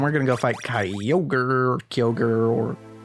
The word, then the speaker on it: Kyogre: so what yeah my knowledge of Japanese tells me it's probably kiler got do something like that at least in the